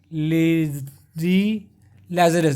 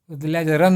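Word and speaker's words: Lady Lazarus: इसीलिए ध्यान से देखिएगा, लेडी लैजरस है ये, लैजरन नहीं है, लैजरस, रस याद रखिएगा, ये है लेडी में रस है, लैजरस, लेडी लैजरस।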